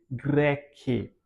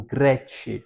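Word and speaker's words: Graecae: Rodos, Naxus, Samus, Tios, lesbus, Leminos, Eboia, sunt, insule, greque ou Grete, né? Podemos ler assim também, que é a pronúncia mais ah mais comum em relação à pronúncia eclesiástica, né?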